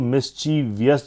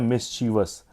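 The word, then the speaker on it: mischievous: Next देखिए मिसचीवियस इसकी spelling तो सही है ना हम इसको मिसचीवियस जरूर बोलते हैं। बस यह होता है मिसचीवस।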